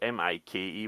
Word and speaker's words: Mikey: Is it Mickey or Mikey? I don't know. It's Mikey.